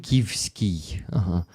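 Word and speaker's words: Шевченківський: Shevchenkivsky.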